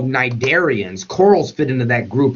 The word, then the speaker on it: cnidarian: Hydra are freshwater species, what we call cnidarians. Corals fit into that group as well. Cnidarians are jellyfish. Anything that has these stinging cells is known as a cnidarian. The C is silent.